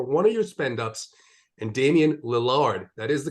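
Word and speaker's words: Damian Lillard: little savings before one of your spend-ups and Damien Lillard that is the correct pronunciation don't worry about it he's the Eiffel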